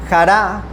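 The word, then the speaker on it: χαρά: Cron Strong Griego o G o del griego 5479 y del 5463 jara con J. Jara. Jará, porque tiene acento en la jará.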